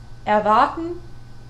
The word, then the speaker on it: erwarten: But the R is not always pronounced that way in every word either. Like erwarten, E-R-W-A-R-T-E-N. That is just er.